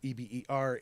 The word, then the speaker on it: Hebert: So it's spelled Hebert, H at the beginning and the T at the end are silent. So Eber, Hebert, oui, oui.